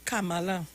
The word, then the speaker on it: Kamala: It's 3 syllables, no, not 2. Yeah, Kamala.